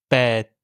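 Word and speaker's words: แปด: En thaï, le son s'arrête d'un coup au moment où vous prononcez la lettre. Pour les chiffres, on dira donc hok, jet, pet.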